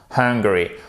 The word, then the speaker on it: hungry: Faites bien le H ici. Super important. Hungry.